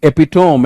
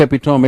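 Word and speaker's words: epitome: कुछ तो और बड़े खतरनाक हैं, like this is people speak एपिटोम. इट्स नॉट एपिटोम, इट्स एपिटमी. एपिटमी, शी इज द एपिटमी of intelligence. Right. So that is एपिटमी.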